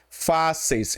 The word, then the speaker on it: fáceis: A palavra primeiro aqui que ele colocou foi fáceis. Eu já vou colocar ela na sua separação de sílaba, tá? se separa assim, ó. Fáceis. Fáceis.